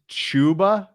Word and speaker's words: Chuba: when you've been drinking it's pronounced chuba it is which sucks like it just ruins it um more anytime touchdown plus 250.